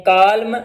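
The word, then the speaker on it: column: Silent N, एन इज not pronounced following M एट द एंड ऑफ a word. जब भी आखिर में एन आएगा और एन से पहले एम आ जाए तो एन साइलेंट हो जाएगा। जैसे आटोमन, आटोमन लिखा होता है लेकिन एन साइलेंट होगा, आटोम। इसी तरह हिम, इसी तरह कॉलम।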